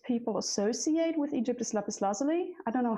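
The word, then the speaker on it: Lapis Lazuli: I think the one that most people associate with Egypt is Lepus Lazuli. I don't know how do you say that in English? Yeah, Lepus Lazuli or Lazuli. Okay. It varies.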